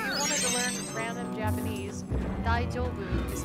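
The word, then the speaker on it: 大丈夫: It's the way it's pronounced. The daijo, it is supposed to be a J, but a lot of times it's pronounced soft, so where it kind of sounds like an SH.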